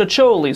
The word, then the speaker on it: Acholi: did research this time everybody says it's pronounced a choli so if I'm wrong